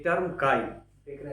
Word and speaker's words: chi: The term का देख रहे हैं सीएचआई has been derived from the Greek letter which is pronounce S की।